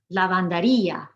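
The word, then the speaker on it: lavandería: Versus the next 3, we've made the I strong with an accent mark. It's its own syllable. Lavanderia, panaderia, tortilleria.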